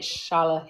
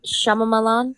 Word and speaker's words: Shyamalan: Night Shyamalan. Shyamalan. How do you say his last name? M. Night Shyamalan.